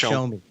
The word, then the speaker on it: Xiaomi: or not a Z, it's an X IOME. I think it's the way it's spelled, but it's pronounced Xiaomi.